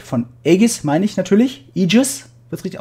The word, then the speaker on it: Aegis: Aegis, wird es richtig ausgesprochen.